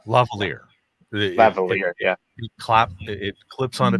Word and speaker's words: Lavalier: do you pronounce it? Lavalier.